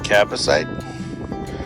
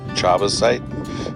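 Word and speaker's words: chabazite: And then around it, it looks to be cabasite, or it may be pronounced chabasite because it starts with a CH.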